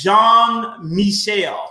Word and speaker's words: Jean-Michel: really perfect and again it's jean-michel is how you would pronounce that that name but again i'm really